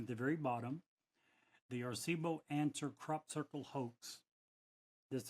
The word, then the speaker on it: Arecibo: Here's what SETI Institute said about the, how do you pronounce it? Arecibo? Arecibo.